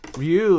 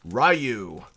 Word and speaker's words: Ryu: Ryu is such... Exactly. Okay, and how do we say his name in English? It's Ryu. But in Japanese, it's Ryu, which means dragon.